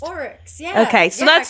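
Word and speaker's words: aurochs: that's pronounced? Oryx, yeah.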